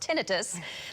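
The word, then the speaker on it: tinnitus: loss and ttis which I just learned is pronounced tinitus that's the ringing noise in your ears that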